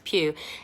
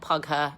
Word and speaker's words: Pugh: You say it like that, Florence Pugh. It's like Hugh, but with a P. No, it's not Pugher, and no, it's not Pooh. I know it's tempting. Okay. Where was Florence Pugh born?